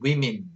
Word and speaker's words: women: 발음 조심하세요. 이 단수는 woman이죠. woman. 복수는 women 이렇게 됩니다.